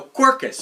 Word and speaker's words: Quercus: called Cirus cus cirkus Cirus carcass not carcass God I hope not no quirkus I always have a